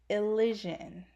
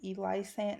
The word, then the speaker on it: Elysian: And if you don't know how to pronounce the name, it's pronounced Elysian. It's pronounced Elysian. I've heard people call it Elisant. No, it's Elysian.